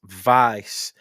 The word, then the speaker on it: Weiß: Ruer which is Max Vice. Now that's how it's pronounced. It might look a little bit weird, but it's pronounced vice.